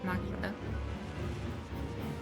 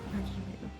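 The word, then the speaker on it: Magilou: I mean, what Rokuro said, not Magilo. Magilu. But it's spelled like Magilo.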